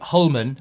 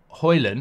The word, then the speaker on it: Hjulmand: his name wrong um hullman I always say holand because I know the D is not countered I'm saying hullman it could be hullman um it could be